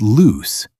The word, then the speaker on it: loose: If it rhymes with moose or goose, it's loose the adjective.